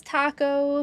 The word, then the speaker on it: Taco: His name is Taco, pronounced like the food. So it's not like an extended A, it is the same.